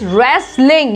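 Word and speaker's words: wrestling: Next is रेसलिंग, यहाँ पे W silent है, रेसलिंग बोलेंगे हम यहाँ पे।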